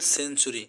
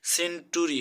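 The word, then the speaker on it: century: তারপরে সেঞ্চুরি, সেন্টুরি হওয়ার কথা ছিল কিন্তু সেন্টুরি না হয়ে চ এর উচ্চারণ হয়েছে।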